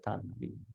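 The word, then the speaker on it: taṇhā: Vibhava tanha. H. This H must be pronounced properly.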